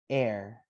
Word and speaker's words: air: This is actually 2 letters in pronunciation. We pronounce it air.